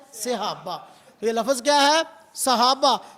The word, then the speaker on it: صحابہ: صحابہ. صاد کے اوپر فتح ہے، صاد کے نیچے زیر ہے.